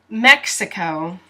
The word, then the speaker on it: Mexico: M always the uppercase now the X here does not sound like an H ha no it sounds like X X so the way you